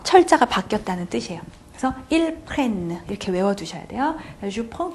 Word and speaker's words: prenne: 이렇게 물어보시는데 자, 이거는요 그냥 발음의 이유예요. 사실은 펑 비음 나죠? 자, 여기서는 비음 안 나게 해주려고 그러는 거예요. 왜 비음을 안 나게 해주냐면요. EN 때 발음 자체가 어미가 발음이 없기 때문에 발음의 균형을 맞춰주기 위해서 이 앞에 에 발음을 나게 해주기 위해서 N 두 번 써준 거죠. 비음을 없애준 거죠.